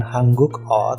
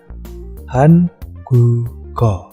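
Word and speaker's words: 한국어: Nah, ini bacanya bukan hanguk o, tapi dilihat di situ ada konsonan mati giok bertemu dengan o. Ya, tadi kan konsonannya itu menggantikan kedudukan o. Jadi bacanya hangugo.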